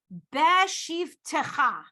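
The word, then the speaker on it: בשבתך: So it's not a full, it's beshivtecha. It's not a full eh on that taf.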